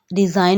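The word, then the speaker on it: design: लफ्ज़ है साइन, साइन SIGN, इसमें जी साइलेंट है। रिज़ाइन, डिज़ाइन में भी जी है लेकिन प्रोनाउंसिएशन करते वक्त जी प्रोनाउंस नहीं करेंगे, जी साइलेंट है।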